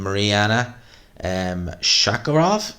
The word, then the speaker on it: Mariana Shakarov: She's fighting Mariana Shakarov, is how you pronounce that.